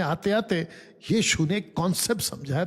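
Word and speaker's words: Pnyx: देता हूं ये देखिए इसको कहते नेक्स हिल पी एन वाई x next हिल पी साइलेंट है।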